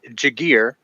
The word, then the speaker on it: Jagir: And before we throw it back to you guys, real quick, I just got clarification from a niece and wife. It is Kevin Jagir and Corey Harrigus.